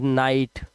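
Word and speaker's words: night: हो गया नाई और जी एच टी में जी एच हमेशा साइलेंट होता है तो सिर्फ टा को पढ़ेंगे पढ़ेंगे तो ये हो जाता है नाइट ठीक है इस तरह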